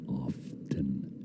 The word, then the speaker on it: often: Often the tea is silent and often.